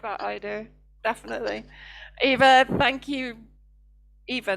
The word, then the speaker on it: Eva: I got into this mentality when I'm in Canada, it's Eva. Everybody knows me as Eva. When I get to Syria, it's Ava because that's how they pronounce it there. Yeah, Here in Russia, exactly. it's Yeva, which I really like Yeva.